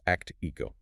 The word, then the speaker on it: ACTIQO: It's pronounced act-e-ko.